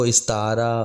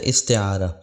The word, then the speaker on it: استعارہ: سمجھ لینا ضروری ہے۔ لوگ اس کو استعارہ اور پتہ نہیں کیا کیا کہتے ہیں، اصل اس کا تلفظ ہے استعارہ، اور لفظی معنی ہے